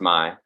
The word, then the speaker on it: MI: It's MI for Michigan, MI, but pronounce my, play on words, my little coin thing.